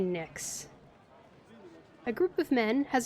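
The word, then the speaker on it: Pnyx: I bet the P is silent, so I'm going to say Nyx. A group of men has assembled in the Nyx.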